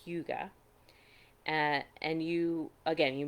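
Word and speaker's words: hygge: it at this point it's spelled h-y-g-g-e it's pronounced yuga and and you again you may have heard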